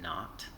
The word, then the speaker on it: naught: and then this v naught right here so that little zero is pronounced not um v naught is